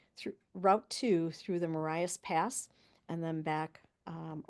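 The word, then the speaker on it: Marias: a cousin's first name so I believe it's pronounced maras I am not 100%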